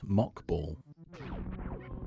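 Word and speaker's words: Mach ball: And as I also said, it's pronounced 2 different ways because I don't know which one is correct. I think they're both true. Although Mach, M-A-C-H, ball makes more sense.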